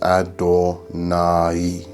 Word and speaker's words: Adonai: It's Adonai, not just Adonai. How do people say it? Adonai. Yeah, Adonai.